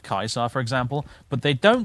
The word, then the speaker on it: Caesar: are happy to say people get on your deck about saying season instead of Kaiser for example but they